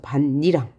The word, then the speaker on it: 밭이랑: 파열음을 비음화 해야 되죠 그래서 최종 발음은 렇게 되는 거죠 반니랑 자 그래서이 티이 디귿으로